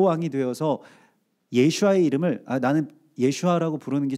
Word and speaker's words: 예슈아: 이제 관계가 생기잖아요 또 예슈아의 이름이 예슈아라고 하는 그 정확한 발음을 우리가 알기 시작했잖아요 그렇게 불러들이는 것이 내가 중심적으로 내가 바로 왕이 되어서 예슈아의 이름을 나는 예슈아라고 부르는게 좀 귀찮으니까 예수라고